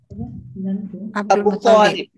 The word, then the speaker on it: Abdul Muttalib: Namanya Abdul Muttalib. Abdul Muttalib. Itu Muttalib huruf to-nya bertasdid.